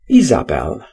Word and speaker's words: Jezebel: and then one called ahab and jezebel which he pronounced izabel deeper problems too were